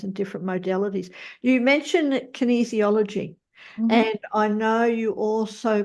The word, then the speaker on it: Kinesiology: them that it's easy so you say easy and then put a kin in front kin easy and then ology on the end uh that's how you pronounce Kinesiology and uh you really